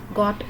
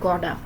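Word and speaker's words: gotta: को मिला के बनाया, और इसका प्रोनाउंसिएशन गॉट और टू मिलके बन गया गॉडा। बिकॉज टी बिटवीन जब टू वावल्स के आ जाता है तो अमेरिकन इसे फैस्ट डी साउंड देते हैं। जब भी टू वावल्स के दरमियान टी आ जाए तो उसको फैस्ट डी साउंड दिया जाता है। Therefore they pronounce it गॉडा।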